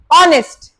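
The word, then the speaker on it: honest: ऑनेस्ट, एच is silent, ओ आ रहा है, ओ का, एन ऑनेस्ट।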